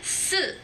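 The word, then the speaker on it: 四: En el número 4 es cuarto tono y en la muerte es tercer tono.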